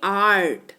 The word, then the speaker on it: art: जैसे ART, इसको ना अर्ट नहीं पढ़ेंगे, राइट, इसको पढ़ेंगे आर्ट। क्या पढ़ेंगे?